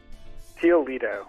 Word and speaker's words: Teel Lidow: Teel Lidow.